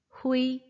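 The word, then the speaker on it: hui: 발음은요. 이 부분을 약하게 소리내주시면 돼요. 후이, 후이, 오케이?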